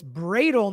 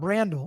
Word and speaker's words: Bradel: If anybody asks, oh, it's Bradel, not Brandel. Okay, that's my bad.